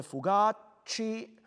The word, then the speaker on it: fugaci: Be careful again, the fugaci. Se scorderasti l'ore fugaci. Very gentle C.